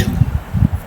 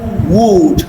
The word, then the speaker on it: would: So, we can also have u as a spelling for the u sound as in could should wood would. These words are not pronounced as could, should would.